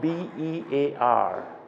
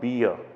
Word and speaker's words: bear: this word it's not beer i have heard many students mispronouncing this term and word as beer but it's not that this is the pronunciation